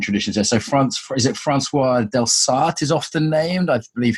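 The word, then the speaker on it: François Delsarte: Quebecois will be rolling over in their grave at my pronunciation, no doubt. No, that's right. Yeah, Francois Delsarte.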